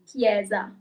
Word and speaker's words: chiesa: So as you might have seen, you have CH at the beginning of the word, and the sound is just K. Okay, so the letter H doesn't have its own sound.